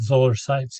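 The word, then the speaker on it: Zoller Seitz: um it's funny that the stuff you said that Zeller Sites, am I saying it right? Matthew Zeller. Matt Zoller Sites, yeah.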